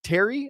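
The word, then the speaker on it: Thierry: guy named uh the Terry I think is how it's one of the it's like the French word. T H I E R R Y. I think it's Terry is how you pronounce it.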